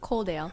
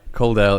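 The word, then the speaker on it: Coledale: Is that how you pronounce it? Coldale. Yeah. Coldale in Wllingong.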